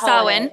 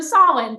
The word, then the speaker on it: Samhain: I always mispronounce the name, but it's this, that Samhain. holiday. Samhain. Oh my gosh, there you go. I want to say Samhain. Wrong. It's just wrong. So Samhain, thank you.